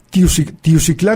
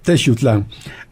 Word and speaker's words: Teutlán: Bueno qué calle buscan tius clá norte o tius clá sur la pronunciación de todos modos era mala pero la orientación era buena la intención era buena es teutlán esa otra palabra que